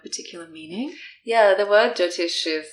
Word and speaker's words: Jyotish: So firstly, the term Jytoish, which is often used to describe Vedic astrology, am I pronouncing that correctly?